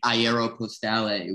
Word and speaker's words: Aeropostale: the jacket itself and was pronouncing it ayero postale which i think is how i did pronounce it in high school that's that's just a french version that's like in friends